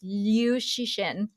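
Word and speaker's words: Liu Cixin: I'm not as familiar with the pronunciation. It's Liu Shixin.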